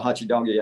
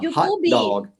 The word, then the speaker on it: hot dog: Oh, one thing is the additional vowel sound at the end of words that end with consonant sounds in English, like, the classic hachi doggy. A gente não fala hachi doggy, a gente fala hot dog.